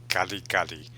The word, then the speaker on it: Kare-kare: Okay, that pronunciation, that rolling of the tongue it's an RD sound. It's almost like kali kali.